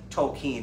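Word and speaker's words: Tolkien: he actually because he knew this impacted JRR Tolen is how he pronounces his name he looked to see what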